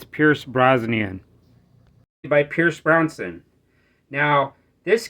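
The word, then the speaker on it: Brosnan: when I filmed this video I pronounced this name wrong it's Pierce brazan by Pierce brownson now this guy's got a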